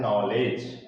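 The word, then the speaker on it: knowledge: क्या लिखा है, नॉलेज, तो इसमें देखें आप, यहाँ पर क्या आ रहा है, डी और जी आ रहा है, तो इसलिए इसमें डी जो लेटर है वो क्या हो गया, साइलेंट हो गया। तो इसका प्रोनाउंसिएशन क्या हो जाएगा, नॉलेज।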